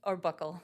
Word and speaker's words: buccal: Who took the, pronounce it buccal swab? Or buckle. Okay, either Either way one.